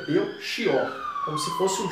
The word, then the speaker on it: Belchior: Reparem que muitas pessoas, na variedade popular, as pessoas pronunciam Belchior, como se fosse um K. Mas a pronúncia formal é Belchior.